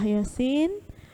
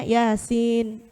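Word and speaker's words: يس: Jadi kan selama ini bacanya Yasin. Kurang panjangnya. Panjangnya berapa? 6 harokat atau 3 alif. Yasin. Harus begitu panjangnya.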